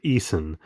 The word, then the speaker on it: Eason: I apologies if I'm pronouncing that wrong. I think it's Ela, and her last name is Eason, E-A-S-O-N.